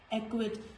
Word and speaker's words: acquit: So it, acquit, acquit. So in all these words, letter C is silent.